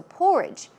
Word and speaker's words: porridge: few days right so porridge porridge stress goes on the first syllable and some other words